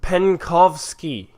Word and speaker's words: Penkovsky: believe it or not colonel oleg Penh coughs pen coughs key yeah that's how you pronounce it its Soviet military intelligence officer passed